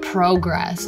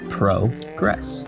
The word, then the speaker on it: progress: There's another one, progress instead of progress. Which also makes more sense, progress.